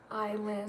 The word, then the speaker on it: island: Is silent? Dude, how's the island?